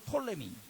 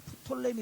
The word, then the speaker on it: 프톨레미: 밑에 남쪽 이집트 쪽은 톨레미. 그래서 그 앞에 P자를 묵은 발음하고 톨레미한테 하지만은 이제 이집트 역사로는 프톨레미 왕조라는 왕조가 나와요.